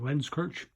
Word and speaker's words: Lenzkirch: 18-hundreds lens coach diktats I pronounce that lens coach Vienna regulator and it's